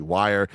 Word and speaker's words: Weir: Why are we It's Weir.